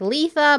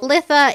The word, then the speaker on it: Litha: couple pronunciation videos and they all said Lissa someone someone was like Lisa but I was like yeah I think Lissa sounds better so we're gonna roll